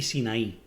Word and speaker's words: Sin: el desierto de zinc así como sin como si fuera pecado en inglés pero es sin con ese y por qué hay